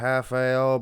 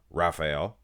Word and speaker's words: Rafael: Rafael Brandao's from, and I know most of you guys call him Rafael, but I believe the Brazilian pronunciation is Rafael, if I'm not mistaken.